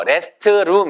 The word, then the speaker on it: restroom: 이거 rest room 이게 아니고 rest 하고 t를 살짝만 내고 room.